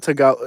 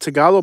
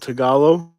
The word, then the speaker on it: Tagalog: it um whatever um no it's not tagalo is it tagalog but that's not how it's spelled though is it tagalog so